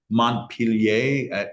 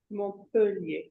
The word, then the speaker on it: Montpellier: and you're like, I don't know how to pronounce this. Like, I don't know this author's name or this Montpellier. Did I get that right? No. Oh, no, really? Montpellier.